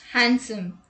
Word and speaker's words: handsome: d rule number one d is not pronounced in the following common words let's look at the examples handkerchief wednesday sandwich handsome let's look at the